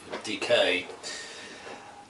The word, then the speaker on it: DK: As in the pronunciation of decay.